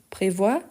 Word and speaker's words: prévoir: Quelle est la différence? Prévoir, prévoir. Prévoir, prévoir. Donc, ici, on prononce le R. Ici, on ne prononce pas le S.